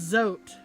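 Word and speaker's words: Zote: Rhymes with note. Ah, it's zot.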